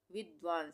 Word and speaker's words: विद्वान: तो आधे द का उच्चारण हो रहा है यहाँ पे, और व ये पूरा है, तो इसको हम कैसे पढ़ेंगे? विद्वान। विद्वान, व पूरा बोल रहे हैं।